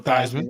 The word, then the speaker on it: Theismann: Joe Theismann rhymes with Heisman.